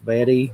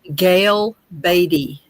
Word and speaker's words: Gail Batty: know someone uh Gail Betty Betty. Do I always say her name wrong? Of course. Betty. It's Betty. No, it's it's it's Gail Batty.